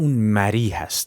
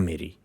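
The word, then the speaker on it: مری: The correct pronounciation for that is "mari" not "meri" as we commonly say.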